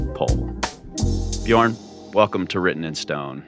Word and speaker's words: Björn: the thing is it's it's Swedish letter so it's uh it's BJ like learn bej yeah got it okay